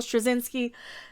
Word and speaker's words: Straczynski: jms as we call him if you can't pronounce his name j michael strozinski he had tweeted previously about his interest in